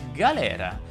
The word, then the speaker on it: galera: La pronuncia corretta di galera in italiano è galera, con la E aperta.